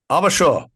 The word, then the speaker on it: AvaSure: who are respectively the AVP of clinical informatics and the chief clinical officer at Arbashaw rhymes with Larabashaw which as you hear